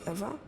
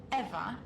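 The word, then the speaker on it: Ewa: Did you say your name was Eva? Yes, that's right. So you have the same name as that thing? Could you please not compare me to a lifeless machine? Besides, Eva is spelled E-W-A, not E-V-E.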